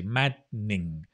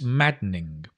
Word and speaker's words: maddening: and then you you drop the dun you can say mad ning it's it's maddening it's maddening mosquitoes buzzing